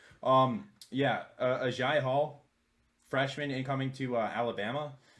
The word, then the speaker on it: Agiye: I got corrected before, and I still say Aggie. Agiye Hall, freshman incoming to Alabama.